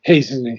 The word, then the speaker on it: hastening: H H yeah H they don't they don't uh any longer pronounce the T that was at one time it was pronounced but no longer so it's hening hening hening okay okay